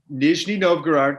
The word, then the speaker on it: Nizhny Novgorod: So you were in, is it pronounced Nizhny Novgorod? Is that what it is? Nizhny Novgorod.